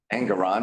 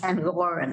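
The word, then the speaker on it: Engoron: Judge Engeron, remember him? He demanded. Pronounced Angoran. Angoran.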